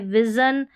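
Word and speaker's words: vision: SION को यहाँ पर जन पढ़ना है। यहाँ पर है टेलीविज़न, सभी में जन है और कहीं पर शन भी होगा, वो भी आगे स्पेलिंग्स आएगी। ये है विज़न।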